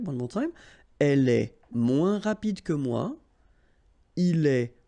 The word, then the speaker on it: moins: And then, moins, same thing here. Remember, we don't pronounce the final S. Then you put the adjective que, than, and the rest of the sentence. Okay? Elle est moins rapide que moi.